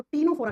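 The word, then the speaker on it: Ctenophora: तीन नंबर पे आता है उसको टीनोफोरा कहते हैं। लिखते हैं सी से प्रोनाउंस करते हैं तो टी से करते हैं।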